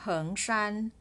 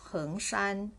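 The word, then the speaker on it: 恒山: It is called Mao Heng or Hengshan. It pronounced as the word Hengshan, which is the southern mountain among 5 great mountains of China. But this Heng has a different character. It's pronounced the same way.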